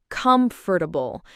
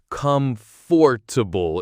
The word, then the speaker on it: comfortable: It's actually usually said with three syllables, not four. Comfortable. That fort part often gets like compressed. Oh yeah. You don't say comfortable.